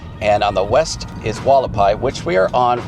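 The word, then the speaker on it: Hualapai: We just turned on to Walapai. That's that weird funny name. Starts with an H, but it's spelled it's pronounced Walapai.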